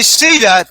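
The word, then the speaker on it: SIDA: got AIDS in Spanish it's called Steeda s-i-d-a you say see that people go oh okay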